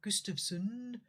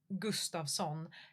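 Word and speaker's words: Gustafsson: I think it was Gustavson and that's not Gustavson. That's Gustavson.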